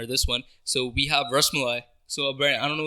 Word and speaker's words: rasmalai: Rasmalai.